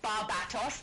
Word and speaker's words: Barbatos: David said Barbatos. Thank you, Barbatos. David. Correct pronunciation and everything.